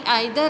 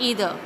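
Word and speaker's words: either: नाइदर इज़ द opposite of ईदर. वी can pronounce ईदर और आइदर, both are correct.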